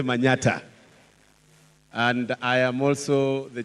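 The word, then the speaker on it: Manyatta: is supposed to be Manhattan but we don't pronounce man Manhattan we say Manata and I am also the chairman Kenya young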